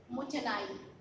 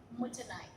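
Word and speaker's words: もったいない: So it means mutanai. It's the pronunciation mutanai.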